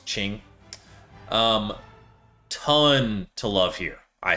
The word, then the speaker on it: Qing: And that's going to be Qing, China, which I have mispronounced this 100 times in this channel, and I've heard you all in the comments, so I hope I'm doing it correctly there. I've said King tons of times, but I think it's Qing.